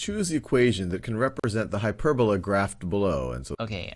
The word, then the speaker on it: hyperbola: Foci of a hyperbola. Foci of a hyperbola. Hyperbola. Remember this pronunciation, because you're gonna use it very much.